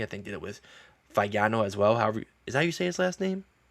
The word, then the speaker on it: Fagnano: And I'm like, it's Fagnano, guys.